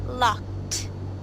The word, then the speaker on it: locked: So for instance, with this word here, with ED, this would be locked. Locked.